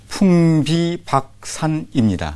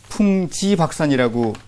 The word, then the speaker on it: 풍비박산: 이렇게 좀 풍비박산입니다. 네. 이게 바람풍, 날비, 누리박, 흩틀산, 이제 우박이 바람에 날려서 이렇게 흩어지다 하는 그런 뜻으로 그런 뜻인데 이게 한자음을 모르다 보니까 상당수의 지식인들도 풍지박산이라고 발음을 하는 분들이 있습니다.